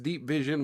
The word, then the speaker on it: DeepVZN: DeepVZN, pronounced Deep Vision, was launched in October